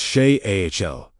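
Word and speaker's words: שאל: Begin with SHAL, pronounced SHAY-AHL, to ask, request, or inquire.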